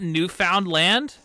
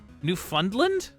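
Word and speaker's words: Newfoundland: oh we it's not new found land that's literally what it what it's written like though uh it's it's pronounced new like fund new fundland that's stupid what the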